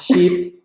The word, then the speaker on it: sheep: sheep on a ship. Okay. This pronunciation problem is the long E sound in sheep and the short I sound in ship. Eh.